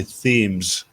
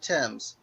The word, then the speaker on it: Thames: in it got onto Americans try to pronounce Thames they all say themes I said Thames I know you did